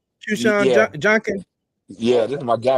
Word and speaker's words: Quinshon Judkins: Yeah, it's pronounced Qshawn Junkin.